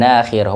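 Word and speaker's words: ناخرة: Wa quri'a, dan dibaca nakhira, ya, dibacanya itu dengan memanjangkan huruf nun, nakhirah.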